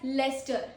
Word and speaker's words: Leicester: Now this is not pronounced ICE. Sorry. Leicester? No. We say it as Leicester. Leicester. Meaning a city in Central England. It is a city in Central England. Pro tip is CEI sounds like ES, not ICE.